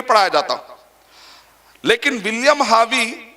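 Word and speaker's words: Harvey: लोग क्या बोलते हैं विलियम हार्वे या बिलियन हावी आर को साइलेंट करेंगे तो विलियम हावी कौन है इटली में शख्स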